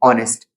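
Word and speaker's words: honest: वहां पर क्या होगा एच जो होगा हमारा साइलेंट हो जाएगा साउंड किसका आएगा ओ का क्या पढ़ेंगे अपन इसको ऑनेस्ट फिर यहां पर हम देख सकते हैं शुरुआत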